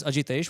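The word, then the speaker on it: Ajitesh: my Starbucks name my my real name is a jitesh which is difficult to pronounce if you're not from India so when I first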